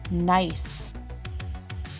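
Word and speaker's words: gneiss: an evenly shaped mineral the next word is pronounced nice nice is a type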